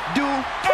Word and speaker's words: Dupri: Michael, it's pronounced Dupri.